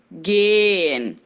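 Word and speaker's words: gehen: temos a palavra guia atenção para essa pronúncia esse h a gente pula ea como se fossem dois essa longos game game significa ir a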